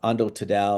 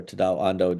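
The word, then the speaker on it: Tadao Ando: And so for those that are really into art, uh, Ando Tadada or Tadaw Ando, depending if you want to pronounce it Japanese way or English way, um, uh, designed the museums.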